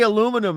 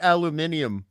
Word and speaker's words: aluminum: them down south but at least you say aluminum and not aluminium like we do here gross gross one thing